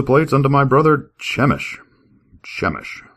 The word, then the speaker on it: Chemish: Chish, I guess. Chamish. Chamish. C H E M I S H. It's either Chish. Chemish or Chamich. I'm going to say Chamish.